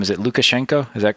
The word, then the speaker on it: Lukashenko: is if i say his name is it lukashenko is that correct yeah yeah when he moves